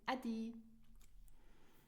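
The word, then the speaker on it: Äddi: So you pronounce it Adi.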